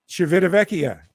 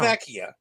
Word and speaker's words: Civitavecchia: How did you pronounce the port in Rome? Civitavecchia.